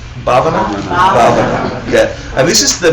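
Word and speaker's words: भावना: seed in your mind of Tibetan or Sanskrit pronunciation. Say Gompa. Gompa. And the Sanskrit for that is Bhavana. Bhavana?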